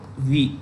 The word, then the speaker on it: Wii: it makes the nintendo wii gaming console nintendo v it's pronounced v okay gaming console so these kinds